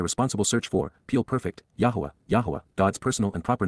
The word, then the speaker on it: Yahweh: for the on inspiring nature of C perfect Yahweh Yahweh an accurate pronunciation of God's personal and proper name as